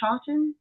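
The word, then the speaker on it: Chawton: Is it Is it pronounced Chawan?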